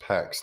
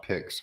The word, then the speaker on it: PEX: It's actually pronounced PEX, not PICS, folks. But yes, it's plastic line. Yeah, PEX, PEX.